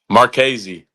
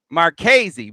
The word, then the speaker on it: Marchese: So, Brady, how do we pronounce your last name? Marchese. Marchese.